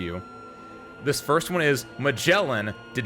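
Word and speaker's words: Magallan: mellin spoke and I and she said I'm mellin I was like oh I've been saying magalin this entire time however that's on the game mellin like the Explorer is spelled with an E not my fault but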